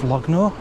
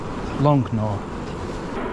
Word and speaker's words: Longnor: Lovely little village of Lognor. That's how you say it. Longnor.